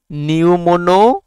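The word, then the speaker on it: pneumono: ফুসফুসের রোগের নাম নিউমোনো আল্ট্রা মাইক্রোস্কোপিক সিলিকোভোল ক্যানোকোনিয়োসিস নিউমোনো কি দিয়ে শুরু কিন্তু নিউ হবে উচ্চারণটা নিউমোনো আল্ট্রা মাইক্রোস্কোপিক সিলিকোবল ক্যানোকো নিয়োসিস এটা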